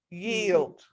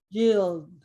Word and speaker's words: yield: j so e e you don't say the i but you do say the l yield yield do you okay any